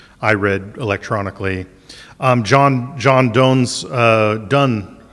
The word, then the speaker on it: Donne: John Donne's Donne. It looks like Dawn to me, but it's Donne.